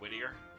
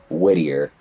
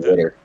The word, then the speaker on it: Whittier: He himself cannot pronounce Whittier. Does he say like Whittier? Or something? He says like Whitter. That? Whitter? Like you're trying to say water.